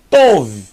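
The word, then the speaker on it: טוב: Vet são V então aqui eu tenho T mais o mais V tov tov muito fácil tov que quer dizer bom tov meod muito bom Laila tov Boa noite Boer tov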